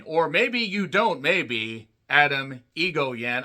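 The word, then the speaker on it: Atom Egoyan: Adam Egoyan. I know how his name is pronounced. Just let me work with this. Adam E. It just sounds like Titan AE.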